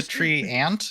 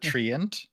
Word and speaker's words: Treant: the word Welborn danger it's actually a tree ant not a Triant he's saying it and